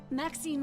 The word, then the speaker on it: Maxine: Maxine rhymes with queen, after all, and dearest.